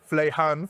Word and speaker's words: Fuleihan: It's an interesting distinction between King there and how it's pronounced but thank you for that. Flehan for anyone who has this name and I'm